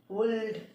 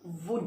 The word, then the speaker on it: would: would वुल्ड, लेकिन ये नहीं है. इसका प्रोनाउंसिएशन वुल्ड नहीं है. इसका प्रोनाउंसिएशन क्या है? वुड है. क्या है? वुड. वुड. एल जो है वो इसमें साइलेंट है.